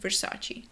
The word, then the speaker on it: Versace: Số 12 - Versace Bây giờ, cách phát âm chính xác trong tiếng Ý là Versace. Nhưng nếu bạn đang nói chuyện với ai đó một người nói tiếng Anh bản xứ và bạn muốn họ hiểu bạn, bạn sẽ nói Versace. Có bạn đi. Bạn có / e / ở cuối, Versace.